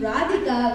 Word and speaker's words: Radhika: I think you mean Radhika, which I suppose rhymes with erotica if your mind is in the gutter.